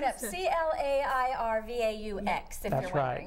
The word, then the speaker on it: Clairvaux: It's a French pronunciation, so you might have to look for it a little bit. Yeah. But comes right up, C-L-A-I-R-V-A-U-X, if that's you're wondering.